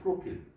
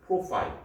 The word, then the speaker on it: profile: 프로파일 하면 이거 프로필. 발음은 프로필이라고 하지 않고 프로파일 이렇게 발음합니다.